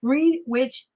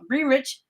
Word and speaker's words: Greenwich: So, again, this is happened at Green Witch Green Witch Greenwich.